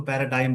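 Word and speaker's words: paradigm: Word noun होता है हालांकि इसको पैराडाइ बोलते है यहां पे जी साइलेंट होता है नाउन की तरफ वर्क करेगा। एक मॉडल है, एग्जांपल है। एक मॉडल होता है। एग्जांपल को पैराडाइम बोलते हैं।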